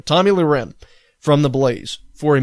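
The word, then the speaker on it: Tomi Lahren: i really don't care for has suspended Tommy Tommy Lauren okay that's how you pronounce her name Tommy Lee Ren from the blaze for a minimum of a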